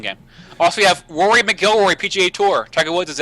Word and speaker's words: McIlroy: No, it's McIlroy. I could have sworn they said Mac.